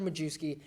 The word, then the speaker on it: Majewski: We have Taylor Majewski. His name rhymes with Teddy Bruschi.